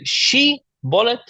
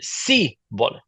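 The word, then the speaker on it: shibboleth: And it was just the case that they pronounced the name for the plant, shibolet, in slightly different ways. One of them said she-bolet, one of them said si-bolet.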